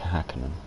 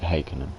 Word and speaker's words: Häkkinen: It's like in Formula 1, people say Mika Häkkinen, but I'm pretty sure the Finns pronounce it Häkkinen, Mika Häkkinen, Häkkinen.